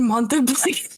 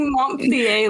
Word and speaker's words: Montpelier: Not like Montpellier, like ballet. What is it? Montpellier? It's spelled Montpelier. So I don't know where you're coming up with that extra sound.